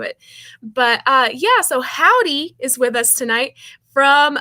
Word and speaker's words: Hovvdy: that's bilingual this is hof d uh am i pronouncing it right or how would you guys pronounce it uh oh pronounce like the greeting howdy howdy okay okay you're reading